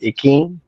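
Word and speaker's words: Ikhine: Help me pronounce it. Akine.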